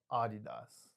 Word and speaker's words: Adidas: Oh so it's pronounced Adidas.